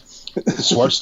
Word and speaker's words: Schwartz: rhymes actually, with quartz, right? It rhymes with fucking fire quartz. Yeah, 100%. Schwartz doesn't get fired because Schwartz is awesome.